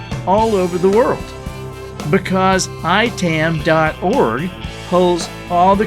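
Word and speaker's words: IAITAM: our sponsor today is ITAM dot-org now that's pronounced I Tam dot org but it's spelled IAI EA m dot org this is the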